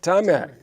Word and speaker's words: Taimak: How you pronounce it? Taimak. Last Dragon, the Last Dragon. Taimak? Taimak, yeah.